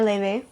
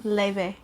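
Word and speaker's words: Laufey: From the Start by Laufay.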